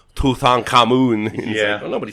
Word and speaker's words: Tutankhamun: sorry i'm it's like it's just like americans saying tootin common when it's tutankhamun yeah well nobody says